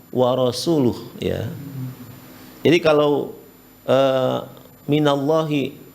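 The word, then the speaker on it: وَرَسُولُهُ: eh barahal musul ya Dia membacanya warasulih padahal yang benar War rasuluh ya Jadi kalau eh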